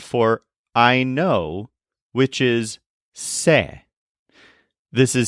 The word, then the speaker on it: sé: is the word for I know which is say this is spelled s e with an accent mark over